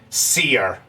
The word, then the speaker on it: Seer: Is it pronounced Sia or Seer? Seer. Seer is in like a seer of the future.